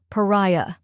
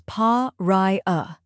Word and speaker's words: pariah: Next is rai, which rhymes with eye or sky and is the stressed syllable.